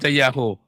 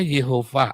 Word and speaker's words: Yehova: ada parodi dari yah bisa dibaca Yahoo yang bener itu bacanya Yehova ada tanda baca mah